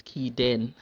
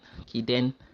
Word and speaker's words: Kiden: So Simon, the pronunciation of the name is Kiden. Kiden.